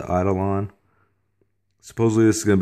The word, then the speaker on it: Eidolon: Raven concealment systems holster believe this is pronounced the idolon supposedly this is going